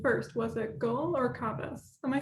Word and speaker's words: Kavas: So it's not Kavach as in shield, or Kavas, or any other variation. It's just Kavas. It comes from the Persian name Kaus.